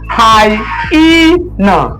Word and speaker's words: hyena: The letter Y forms the I sound. So it doesn't have the Y sound. All right? It has the I sound. Okay? Just like you have in by. All right? My.